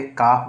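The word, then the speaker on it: calf: कि मैंने बोला कि अगर किसी भी लेटर जो वर्ड में लेटर एफ अगर आता है ठीक है अंत में एल के बाद तो हमेशा साइलेंट होता है एल तो यहां पे काफ बोला जाएगा उसी प्रकार एलम में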